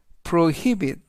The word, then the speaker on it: prohibit: 이번 단어는 prohibit prohibit prohibit라고 발음하시면 되겠고요. 이때 강세는 히 강세가 있습니다.